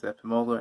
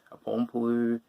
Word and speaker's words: Epimola: So my last name is Epimola, I'd get Apompolu, Epidemio. We've got all these very, very weird, strange pronunciations that you can just tell people just haven't bothered with.